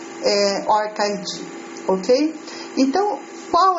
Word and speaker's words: ORCID: é o or orid a pronúncia em inglês já ouvi pronúncia orcid orcid orid orid Então já ouvi a pronúncia de de várias formas Originalmente a pronúncia correta orid Ok então qual é